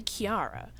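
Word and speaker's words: Kirara: Kilala's name really isn't Kilala. It's actually Kiara.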